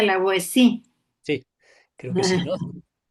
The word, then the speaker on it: La Boétie: sí, la O Boétie, La de la Boétie Boétie, se pronuncia, en exacto, francés se pronuncia la Boétie.